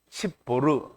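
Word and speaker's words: צפור: 이게 십볼 그러면 이게 발음이 안 나와요. 십보르. 그래야 이제 십보라가 되는 거예요. 십보르는 뭐예요? 찌뽀르와 같은 발음도 똑같고요.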